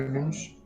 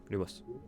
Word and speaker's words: Lumos: C'est pas Lumus. Ouais. Non. Lumos. Ouais bah Lumos solemne du coup euh grenade. En fait c'est soit l'humos soit lumus aussi. Les deux prononciations, ça fonctionne.